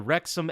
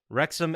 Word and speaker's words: Wrexham: Did you guys hear of the story behind the Wrexham AFC club?